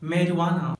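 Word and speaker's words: marijuana: Friends, सिर्फ दो ऐसा वर्ड है जहां पर लेटर जे साइलेंट होता है, और वो है मेरुआना और अलेबिनो।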